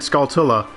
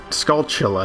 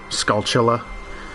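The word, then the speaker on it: Skulltula: just pronounced it wrong I've always said Scala but it's scal it it's it's skull Chilla isn't it cuz it's supposed to be TR skull tarantula so skull Chilla but I say Scala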